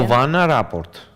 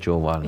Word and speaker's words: Jovana Rapport: Did I pronounce correctly? She's from Serbia, right? Yes, can you pronounce her name once again? Giovanna Rapport. Bravo. Yes, That's correct. correct. I said Giovanna. Yes. That was a mistake.